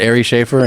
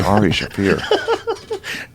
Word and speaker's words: Shaffir: She said Ari Schaefer, and he was like, yes. You know how you say it's Ari Shafir.